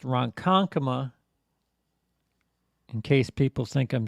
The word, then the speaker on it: Ronkonkoma: from roncon coma uh which is pronounced ronkonkoma in case people think